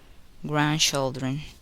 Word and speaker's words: grandchildren: The letter D is silent in the following words. Wednesday, grandfather, grandmother, grandchildren, handkerchief.